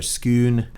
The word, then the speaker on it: scone: it's pronounced differently uh we tend to say scone i'm not sure if the british say that i think the uh the scottish say schoon or skoon uh that is exactly